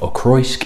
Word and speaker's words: Auchroisk: demand now because of ask is not obvious pronunciation of Ackroyd it's quite a complicated word to look out